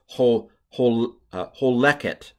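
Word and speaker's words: הוֹלֶכֶת: And with a segalit form, the second to last syllable is accented. So it's holeket.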